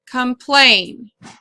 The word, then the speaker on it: complain: second syllable is plane our rule is if it has two vowels together in the second syllable that that is the syllable that will be accented so you put the accent mark complain another word is conceal